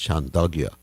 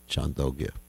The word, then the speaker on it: Chandogya: Actually, it's pronounced Chandogya Upanishad, not Chandogya. Some people are reluctant to pronounce it Chandogya, because it sounds like a dog, but actually that's how you pronounce it, Chandogya Upanishad.